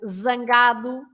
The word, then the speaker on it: zangado: But of course, you pronounce the Z as a normal Z if it's at the beginning or in the middle of the word, like zangado, angry, zangado, or of course zebra, or in the middle of the word, like azul. Yes.